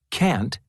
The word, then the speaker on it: can't: Can't and shouldn't. Part A. Listen and practice these statements. Notice how the T in can't and shouldn't is not strongly pronounced.